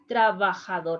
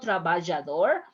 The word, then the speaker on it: trabajador: of exercise with trabajador trabajador is not travajador is hospital if you pronounce more like a trabajador more like h that's okay if you can pronounce a little bit stronger travajador even better but if you pronounce a little like the age that's okay for now for another examples these